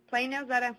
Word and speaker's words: Plano: Plano, am I saying it correctly?